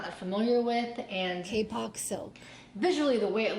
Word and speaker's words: kapok: latex noodle fill or akka POC silk fill and I'm I apologize I'm saying that incorrectly if I can find the correct pronunciation I'll do voiceover that here kapok so the kapag silk